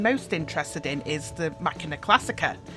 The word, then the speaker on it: Macchina Classica: interested in is the machina classic ax now hopefully I've said that right because there's variations on how it's pronounced machina but I think its machina when I first saw